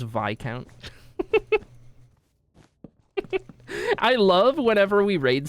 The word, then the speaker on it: Viscount: Do you know how many times I pronounce Lykan's name Viscount before I knew that it was Viccount?